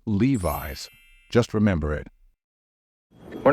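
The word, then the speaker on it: Levi's: a moment to think many non-native speakers tend to pronounce this word as leis however that's not correct the only right way to pronounce this word is Levis just remember it we're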